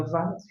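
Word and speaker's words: ו: Se é VAV, se você pronuncia VAV, a primeira letra da palavra VAV começa com V, justamente. Equivale ao nosso V.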